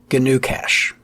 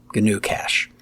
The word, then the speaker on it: GnuCash: There's also GNU Cache. Now that's spelled GNUCASH. GNU Cache.